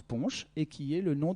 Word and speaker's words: punch: n'a pas été inventée mot angloys qui se prononce punch et qui est le